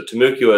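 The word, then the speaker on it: Timucua: I tend to say Tumuqua. I like Tumuqua. To pronounce that middle, first U, just like you would Abacoa. That's kind of where I get my pronunciation for. So Tamuqua is okay.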